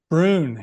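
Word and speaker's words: Broon: Is it Brune? Is that how you pronounce it? Brune, yes.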